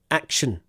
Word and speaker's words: action: have sh sh Nation action action sh just it's a weak sound not a strong sound so not Sean no action no sh action action Nation action okay